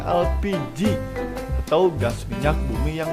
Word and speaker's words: LPG: tabung gas atau lpg pelafalan bahasa indonesia dari akronim bahasa inggris yang dibaca elpiji atau gas minyak bumi